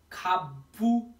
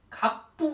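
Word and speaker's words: 갑부: प उच्चारण हुन्छ हेर्नुहोस् यो खाबु खाबु नभएर खाप्पु भयो खाप्पु भनेको धनाडे है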